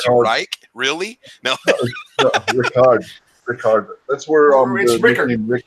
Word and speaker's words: Richard: Rickart. No, it's still spelled the same way. It's just in German the CH gives it more of a K sound.